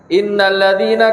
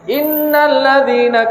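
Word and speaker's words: إِنَّ الَّذِينَ: yang salahnya dimana disitu di dalam pengucapan huruf Dal tadi innalladzina dalilnya apadanya salahnya disini dia tidak ucapkan dengan apa ya harus dengan jelas jadi samar Ketika pakai dengarkan lihat innalladziina kafaruu innalladziina kafaruu min ahlil kitaabi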